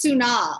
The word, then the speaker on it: Suna: And it's actually pronounced Suna, like tsunami without the me at the end.